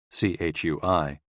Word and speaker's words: chui: associated with the lungs c-h-u-i pronounced like Chui with a forceful exhale which is also